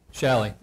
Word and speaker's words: Shalley: Is it Shaley, Shaley, or is it Shalley? Is that one or two? Shalley.